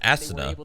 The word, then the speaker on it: Asuna: say the ass part of us so hard asana that's how you say it yeah it's the